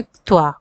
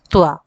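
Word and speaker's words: क्त्वा: कत्वा इसको क्या उच्चारण करेंगे? त्वा त्वा ठीक है।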